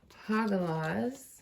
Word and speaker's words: Hagalaz: I'm going to move Hagalaz, which I never actually thought it was pronounced like that, but I did look up how to pronounce all the runes before we started.